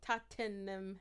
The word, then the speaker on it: Tottenham: Tottenham Hale. Yeah. And she was like, why are you adding all Like, those Tottenham. extra letters? Tottenham. It's Tottenham.